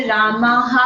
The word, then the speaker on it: रामः: जैसे रामाहा है, माँ की माँ है ना, आ है आखिरी में, और उसके बाद विसर्ग है तो उसको रामाहा पढ़ेंगे।